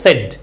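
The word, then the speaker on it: said: সেড সেড সেড সেড না কিন্তু উচ্চারণ হবে সেড তাহলে রিপোর্টিং ভার্বটা যদি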